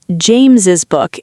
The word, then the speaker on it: James's: Traditionally, James's book is more common in everyday writing, especially in speech, because we usually do pronounce the extra S sound. James's book. We hear an extra syllable there.